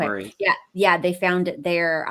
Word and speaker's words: moraine: Underneath that, they found glacier moraine or moraine. Is that how you say it? Yeah. Moraine. Yep, Okay. Maureen.